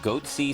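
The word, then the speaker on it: Goatse: and they're getting the goatsy picture they're called goatsy security is that my pronouncing that correctly yeah that's right we're analyzing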